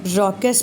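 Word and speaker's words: raucous: बहुत लोग स्पेलिंग से प्रोनाउंसिएशन गलत कर देते हैं। रॉकस पढ़ा जाएगा।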